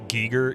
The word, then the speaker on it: Giger: It's pronounced Giger.